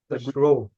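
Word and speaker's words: rho: to pronounce that actually what is that how to say that symbol row row thank you so row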